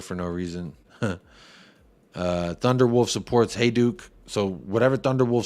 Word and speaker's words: Hajduk: How would I know it's pronounced Hajduk?